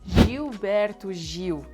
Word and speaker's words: Gilberto Gil: The L before B will sound like W. The G in the beginning of these words that they have a vowel right after sounds like J. Gilberto, Gil. And then the L at the end of the word sounds like W as well. Caetano Veloso and Gilberto Gil